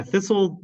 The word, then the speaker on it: thistle: Yeah, thistle, this T is silent.